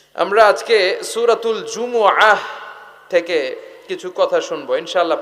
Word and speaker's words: জুমুআহ: সূরাটার নাম হচ্ছে সূরাতুল জুমুআহ। আমার সাথে সাথে বলেন সূরাতুল জুমুআহ। সবাই বলেন সূরাতুল জুমুআহ। অনেকে বলে ফেলে জুমা, জুমা। আসলে আরবিতে শুদ্ধ উচ্চারণটা হচ্ছে জুমু আহ, সূরাতুল জুমু আহ।